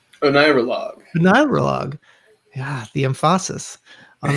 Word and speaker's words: Oneirologue: And his film, Oneirologue, did I get that right? Oneirologue. Oneirologue. Yeah, the emphasis on the syllable, is a remembrance of a dream occurring